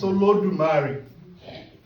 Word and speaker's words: Olodumare: We're trying to break down what is Olodumare. And I've just said Olodu. What happens to the other two syllables? Mare.